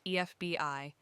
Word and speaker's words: FBI: FBI is pronounced EFBI, and the first sound in that is a vowel, E.